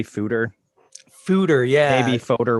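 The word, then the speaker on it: foeder: works it you know it's not an english word so yeah it's dutch right whatever works yeah george eagleson told me it rhymes with hooter that sounds exactly like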